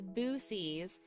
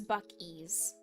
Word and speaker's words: Buc-ee's: It's pronounced Buc-ee's, right? Because you had heard it pronounced as Boosies at Bosie's? Busies? No, it's Buc-ee's. Buc-ee's. Because he's a beaver, so he has the buck teeth. That's why it's called Buc-ee's.